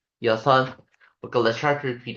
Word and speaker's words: 여섯: Or we try to say as 여섯, 여섯, 여섯. Okay, let's try to repeat after me. 여섯.